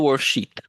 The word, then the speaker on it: worldsheet: So yeah, what happens in the worldsheet? Worldsheet. Gotta be careful to pronounce the E for long enough time.